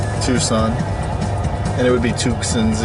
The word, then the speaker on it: Tucson: got to be black ugly color too from tusin Tucson and it would be tuens even if you or tux even if you pronounce it right the C is before the